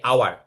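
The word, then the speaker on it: hour: কিন্তু যদি আবার বলি আমরা যে আওয়ার, মানে হাও মানে যেটা এইচ ও ইউ আর আছে, ঘন্টা, এটার উচ্চারণ কি আওয়ার, এইচ উচ্চারণ হয় না।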